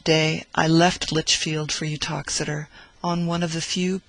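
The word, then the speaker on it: Uttoxeter: speaks of the Town its name is pronounced utox as being about 9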